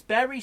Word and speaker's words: Bury: No, it's Berry spelt Bury.